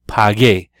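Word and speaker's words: pagué: to say I paid you need to have a you in there to get your paw gay so you you know you're not pronouncing the U or anything it's just a way to preserve the hard G sound just as in the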